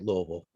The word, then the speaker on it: Louisville: um I would say Louisville and Jeffersonville it's spelled Lewisville but we say Louisville you could do a